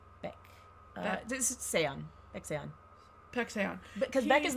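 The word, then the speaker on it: Baek Sa-eon: Beck Seon.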